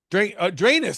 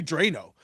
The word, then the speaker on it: Dranes: Drainus. I've been saying your name wrong. 'Cause I always call you Drano, but That's I fine. guess in the proper Greek would be Drainus, correct?